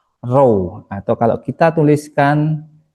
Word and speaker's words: ρ: Ini bacanya adalah row atau kalau kita tuliskan ini bacanya adalah row.